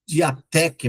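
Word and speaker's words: διαθήκη: A palavra grega diathekes, ou alguns podem pronunciar diateque, mas no grego, todas as vezes que tem o T e o H, né, respectivamente aí a língua portuguesa, se pronuncia fek.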